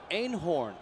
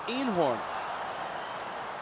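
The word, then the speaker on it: Eenhoorn: That is Robert Einhorn. That's the correct pronunciation back in his homeland. But when he got to the Yankees, instead of Einhorn, it was Einhorn.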